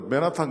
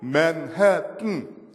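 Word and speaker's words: Manhattan: 여러분 미국 가가지고 맨하탄 가서 헤어리스 맨하탄 거 아무도 못 알아들어. 맨하탄 잘 못 알아들어요. 정확한 발음이 맨해튼 코에다 뜬 해야 돼.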